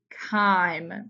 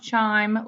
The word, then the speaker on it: chyme: So what we produce in the stomach is called chyme, not chime like a wind chime. Chyme, it sounds like a K, chyme.